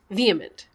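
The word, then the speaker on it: VHEMT: and it is pronounced vehement oh ah wait what's the t voluntary human extinction movement oh they pull in the end of the word movement they're just trying to say vehement ugh i hate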